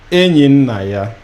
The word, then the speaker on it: Enyinnaya: like you've said, Enyinnaya. Maybe for viewers out there, that's a short lesson on how to even pronounce the name Enyinnaya.